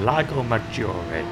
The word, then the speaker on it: Lago Maggiore: So the first race of the Manufacturers Series this season was at Lago Maggiore, as I'm reliably informed it's pronounced correctly, and we're driving the